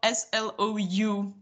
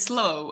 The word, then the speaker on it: SLOU: question guys it's spelled s-l-o-u it's called yeah yeah we read it slow of course but it's slou yeah and wow becoming